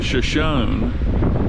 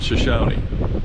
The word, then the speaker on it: Shoshone: And by the way, they pronounce the river's name Shoshone rather than Shoshone. But Pam said it could be pronounced either way.